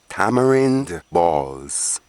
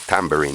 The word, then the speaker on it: tamarind: container such as this i used to call it tambourine enough i'm just trying to pronounce it correct a tambourine may call